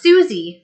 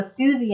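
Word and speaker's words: Siouxsie: a big Hall of notes fan oh it's pronounced Susie okay well I have to um blame uh Google Translate for that COC or something see how much I know okay so Susie and the Banshees okay thank you and then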